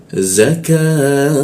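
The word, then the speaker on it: الزَّكَاةَ: Ini seolah-olah menjadi bendera, kita panjangkan 3 ketukan di huruf K-nya dia. Jadi cara membacanya adalah zakah.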